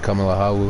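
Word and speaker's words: Ciamar a tha thu: See in Scottish Gaelic, it's uh hello Kamalahu, which is what you see on majority of beginning of my videos where where it says CMR AU that's actually pronounced Kamalahawu and it's like how are you?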